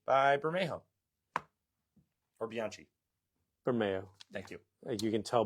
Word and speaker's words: Bermejo: Bermeo.